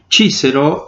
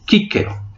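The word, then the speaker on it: Cicero: Hablábamos que la C debe en un momento determinado pronunciarse como K. Entonces la palabra chícero, de hecho, debe decirse quíquero.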